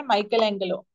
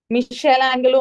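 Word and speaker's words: Michelangelo: is again made by Michael Angelo Michelle Angelo or Michael Angelo you can pronounce in both ways the creation of atom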